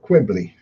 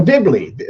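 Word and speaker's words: Dibley: up the vicer of Qui how how do you say it dibl the Vicor of dibl oh dibl not quibbl dibl I got dibs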